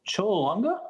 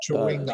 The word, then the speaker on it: Chwinga: Oh, the Cholunga? Is that how you say it? Chewinga. Chewinga. CHWINGA.